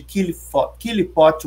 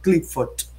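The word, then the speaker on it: Qliphoth: conchas, que é o significado de Killipot ou Clifford. Depende da linha de pronúncia do hebraico.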